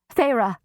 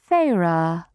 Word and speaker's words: Feyre: Feyre, Amarantha said, testing my name, the taste of the 2 syllables on her tongue.